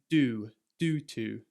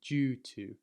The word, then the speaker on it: due to: Americans would say something more like due to. But in England, we tend to say the D a bit like a J, like due to.